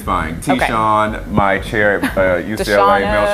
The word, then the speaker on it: Tishuan: But the proper pronunciation is Tishuan. Tishuan, and you say it so strong.